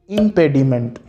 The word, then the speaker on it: impediment: बहुत बार हम ऐसा बोलते हैं लाइक इम्पेडिमेंट. प्रोनाउंसिएशन की अगर हम बात करें तो इम्पेडिमेंट कभी भी नहीं होता, इट्स कॉल्ड इम्पेडिमेंट. मेंट नहीं होता है, इंग्लिश में मंट बोला जाता है.